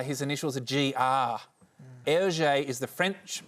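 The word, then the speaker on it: Hergé: said J H it's his initials a gr LJ is the French pronunciation of RG air okay he actually came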